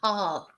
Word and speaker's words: heart: So in English is heart. Remember, in English, en inglés, tenemos que pronunciar la H, heart. Pero en español, claro, no pronunciamos el H, pero en inglés sí.